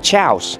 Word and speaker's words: chaos: Chaos.